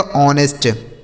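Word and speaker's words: honest: तो यहां देखिए दोस्तों एच जो है साइलेंट है। मतलब इसे नहीं पढ़ेंगे। ठीक है? तो ओ एन ई एस टी। इसे क्या पढ़ा जाएगा? ऑनेस्ट। ठीक है?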